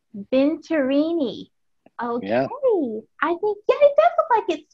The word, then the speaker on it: Venturini: when he mentions it but it's venturini v-e-n-t-u-r-i-n-i i always say it's spelled the way that it sounds vinterini okay i think yeah